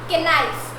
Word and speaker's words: knife: Don't read it as knife. It's read as knife, okay? K is silent. Silent means वो बोलता नहीं है, okay? That means हम उसे pronounce नहीं करेंगे. We don't pronounce the K in knife.